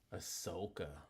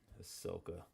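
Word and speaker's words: Asuka: Ahsoka. That's how you say it. It's not how it's spelled. Ahsoka.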